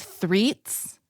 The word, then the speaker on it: Threets: your last name properly it's threats yes just like the the number three spelled out and then T is in Tango s Sam at the end of it exactly as you said